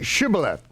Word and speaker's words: Shibboleth: then they said say Shibboleth Shibboleth and they couldn't say it they could say similar silhouette but they couldn't say Shibboleth they couldn't pronounce this Sheen they could pronounce but not the sheen and so when they